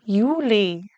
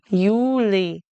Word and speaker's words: Juli: It's not ja, it's ja or Juli is July. Juli It sounds like a Y at the beginning.